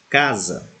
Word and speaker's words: casa: Veja que a letra S em espanhol sempre terá som de S, diferente do português, em que comumente usamos a letra S na grafia, porém pronunciamos com som de Z. Exemplo, casa, mesa. Em espanhol, casa, mesa. Isso ocorre porque não existe som de Z em espanhol.